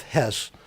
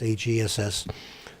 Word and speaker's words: Hess: He was the deputy Führer, that's H-E-S-S. This guy, his name I believe is pronounced Hess, but he was actually like the kind of a robotic killer that Hannah Arendt describes.